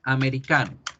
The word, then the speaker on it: American: Pero fíjense muy bien cómo la A no se va a pronunciar de ninguna de las tres formas que aprendimos que se pronunciaría la A. Se pronuncia es con la letra schwa. Entonces, un ejemplo en donde la schwa toma posición en la palabra American. ¿Cómo sé, profe, que eso ocurre?